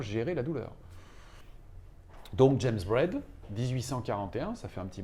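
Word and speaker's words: Braid: nom ce monsieur c'est James bread ça s'entend comme le pain sur ce que ça s'écrit Brid et ce James bread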